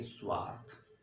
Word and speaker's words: स्वार्थ: का उच्चारण कर दीजिएगा, और जब 100 के जस्ट बाद अंतस्थ यानी कि य, र, ल, व और उष्म यानी कि श, श, स, ह का प्रयोग हो जाए तो आप किसी भी स्वर का उच्चारण नहीं करेंगे, सीधा स से बोलेंगे स्वार्थ।